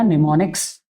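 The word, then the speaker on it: mnemonics: अब हमने क्या किया कि इसके लिए हमारे पास एक नया वर्ड्स आ गया जिसका नाम दिया निमोनिक्स। आप ध्यान रखिए निमोनिक्स जिसकी स्पेलिंग एम से स्टार्ट होती है।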